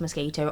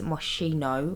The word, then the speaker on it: Moschino: And then I used a light, which is from the Moschino pack, which, by the way, I know it's not pronounced mosquito. I know it's Moschino.